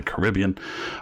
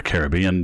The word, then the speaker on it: Caribbean: They also do flights throughout the Midwest, into Florida, into the Caribbean, or the Caribbean, depending on how you choose to pronounce it.